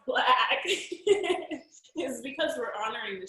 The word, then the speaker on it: Blaaack: any questions so the reason that it's pronounced black is because we're honoring